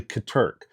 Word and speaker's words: Katerk: Uh, last video I actually mentioned that Katurk, I actually said their name wrong in the last video. If you if you see it, uh, I said, it's actually Katurk.